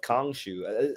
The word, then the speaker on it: Khonshu: It's Blade with a blade, and then we got like a little showing off of Khonshu. Is that how you pronounce his name?